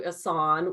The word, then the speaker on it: Ehsan: Ehsan, I had Ehsan right. I had to look up how to pronounce this.